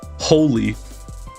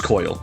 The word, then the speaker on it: Qhoil: I'm going to assume that the Q is silent. Holy. Hoyle? Coil. It's Coil.